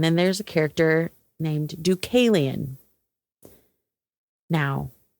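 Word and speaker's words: Deucalion: And then there's a character named Ducalian. Now, what I had to look up how to pronounce that name because I was not putting a hard C. I was doing like an S sound and I was like,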